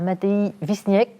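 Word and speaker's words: Matei Vișniec: la parole maintenant à Mattei vistniaque que je prononce à la française auteur de cette pièce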